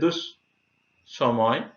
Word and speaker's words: দুঃসময়: দুঃসময়, এখানে এই দন্তস্বকে আমরা দেখতে পাচ্ছি দ্বিতীয় উচ্চারণ হয়েছে দুঃসময়।